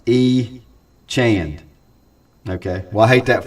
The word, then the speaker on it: Etienne: Pronounced E. Chand.